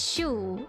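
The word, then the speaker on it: chou: Oh yeah, no, Show in French is cabbage, but it's pronounced as shoe instead.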